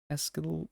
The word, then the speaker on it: pascal: Megapascals pascal pascals pascals pascals.